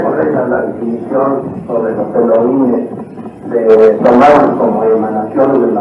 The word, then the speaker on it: Elohim: La H tiene sonido, se pronuncia como J, de manera que su pronunciación exacta es Elohim. Si la palabra Elohim es pluralizada, entonces tenemos